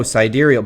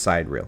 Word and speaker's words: sidereal: And if you're somebody who's sitting there like, well, no, cidurial, by the way, sidereal. It's not pronounced cider.